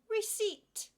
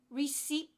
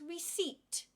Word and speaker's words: receipt: saying that word colleague receipt it's not receed we don't pronounce the P it's not rece it is receipt the P should not be pronounced receipt divorce divorce it's not